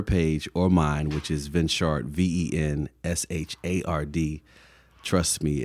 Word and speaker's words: Venshard: If you go to her page or mine, which is Venshard, V-E-N-S-H-A-R-D, trust me, it's only three of us